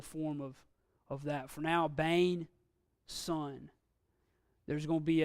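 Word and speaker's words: בֵּן: We have a Bet, which is a Begad Kafat letter. It's got the Dagish. So as we saw with Av, it had no Dagish, received the V pronunciation. Here it's got the Dagish, so it's pronounced full B, Sarai, Bain.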